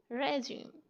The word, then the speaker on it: regime: Next regime, इसको पढ़ना है नहीं, इसकी राइट प्रोनाउंसिएशन है regime.